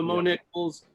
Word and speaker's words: Mo Niklz: so i just love the mo nickels three syllables like literally just six or i guess five left no seven letters right my misspelling forgetting how to spell my name right yeah just three syllables pretty easy and uh but yeah